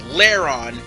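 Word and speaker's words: Lairon: and by the way i mispronounce uh agron's primary previous evolution wrong it's larron not act like argon whatever the hell i say i'm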